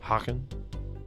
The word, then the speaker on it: Hagen: Like Nina Hagen, but the G is pronounced differently in Dutch. Hagen.